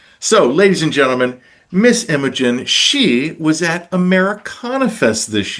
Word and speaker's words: Imogen: Imogen, is that how you say it?